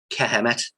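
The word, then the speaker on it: Kemet: way you think egypt is a greek word kehamet is egypt and that is spelled k-e-m-e-t the k is knowledge emit means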